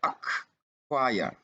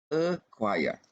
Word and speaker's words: acquire: yang terakhir dianggap, maaf, huruf C setelah huruf K ini dianggap tidak ada.